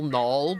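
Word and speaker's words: Knull: it and they call null but it's like spelled with a K so instead of like null as in N L it's K and u l l and the K is silent you go we can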